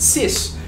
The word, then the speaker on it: cis: signed because i signed so they contract it like this they pronounce it cis which basically expresses how